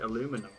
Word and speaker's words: aluminum: Oh yeah, because you guys spell and pronounce it aluminum, right?